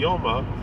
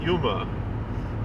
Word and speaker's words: Yoma: Every time I see, because it's pronounced Yoma, it's really supposed to be Yoma, but everyone pronounces it Yuma.